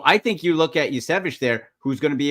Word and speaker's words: Iosivas: I think there's 2 or 3 different ways to say it. I say Yasevich.